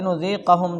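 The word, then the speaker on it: لنذيقهم: گے۔ وبنونہ نذیق الزکا، اور کہتے ہیں لنذیقہم جو ہے اس میں نون کے ساتھ اگر تلفظ بھی بیان کرتے ہیں، نذیقو کس کے ساتھ؟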